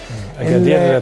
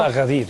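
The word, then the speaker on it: أكادير: اكادير طبعا كما تنطق بالمغربيه، الكابتن طارق بيدينا النطق الصحيح، وطبعا اخواتنا في المغرب بيقولوها طنجة وليس احنا في مصر بنقول اغادير يعني.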